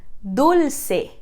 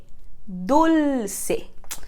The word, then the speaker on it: dulce: relação a nossa pronúncia lembra daquele l que a gente viu em espanhol para pele aqui a gente tem esse l mais exagerado no meio de uma palavra então repete comigo dulce dulce perfeito e última coisa